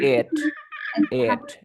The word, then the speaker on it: it: Eat, se pronunciaba eat. No, dice. It.